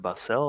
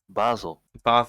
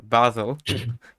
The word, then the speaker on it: Basel: switzerland than last time how do you pronounce it battle you said barcelo or something like that i i honestly don't know i basel okay oh it's more like baseball yeah i i'm guessing i'm pronouncing it like the basil plant or something uh okay